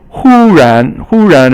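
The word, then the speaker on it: 忽然: And then 忽然 is a little harder character. Hu is first tone and ran is second tone.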